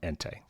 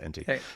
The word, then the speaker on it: Ente: And uh I honestly first heard about ENT and I didn't know how to pronounce it, by the way, until I watched the Techlor one, which they made a point of.